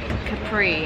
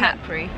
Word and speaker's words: Capri: I call it CAPRI, and I think it's CAPRI. Yeah, I think it's CAPRI.